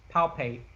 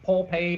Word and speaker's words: palpate: Ask him what I was calling palpate. Oh gosh. I couldn't say it right. I was saying pulpate and no.